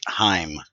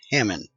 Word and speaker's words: Hammond: So your name is Heim. No, my name is Hammond. And that's what I was told it meant. It's spelt like this. And I was told that that was meaning something about house. But I was told that the German HEIM is the same as the HAM part of my name.